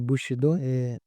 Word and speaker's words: Bushido: Mas o ponto o contexto ali do Japão, aliado a toda a influência da cultura, se não me engano a palavra é Bushido, pronúncia correta, que é ligada à honra.